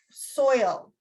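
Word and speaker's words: Soyle: introduces them to dr soil and um it's not spelt like soil it's spelled like s-o-y-l-e which always throws me when i try to say it and dr soil is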